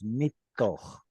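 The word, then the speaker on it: מִתּוֹךְ: there is a principle in Hebrew that when noon comes at the end of a syllable, it's typically going to assimilate into the following letter. Min toch So- becomes mitoch.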